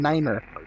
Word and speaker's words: nine: But it's very well known that, you know, tree, fife, and niner. Those are the three numbers that are used when you're talking to ATC that you want to make sure you pronounce that way.